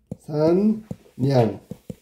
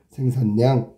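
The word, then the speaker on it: 생산량: 생산냥. 이렇게 발음해야 되는 거지. 생산냥.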